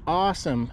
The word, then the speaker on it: Ausom: scooter this is brand name is awesome and not only that look how it spelled it's spelled with an a u in for a treasure